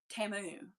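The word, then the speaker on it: Temu: These came off of Timu. Like Shamu. Remember the Super Bowl commercial when we were all really surprised that that's how you pronounce it?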